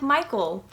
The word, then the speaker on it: Michele: It's a Hoya Michele, which is what you guys are probably used to hearing it pronounced as, but apparently it's pronounced like Michael.